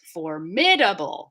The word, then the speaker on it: formidable: little bit spicy here in english formidable is four syllables formidable right so three syllables